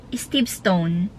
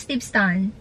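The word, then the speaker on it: Steveston: Steve ston so Alam niyo ba Before I pronounce it Steve stone But He told me that St St is Steve Stone is Steve stun Steve stun Yeah so Yeah I've been Steve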